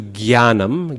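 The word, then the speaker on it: ज्ञानम्: scholars today say that the correct pronunciation originally was jnya, jnanam. But today that pronunciation is not used. If it was originally there, it's been lost. And so if you say jnanam, people will look at you really funny. So I don't recommend it. Instead, Hindi speakers do gyanam, gyan, okay? And that's kind of halfway there, because the ja you turn into a ga, but you lose the nasal.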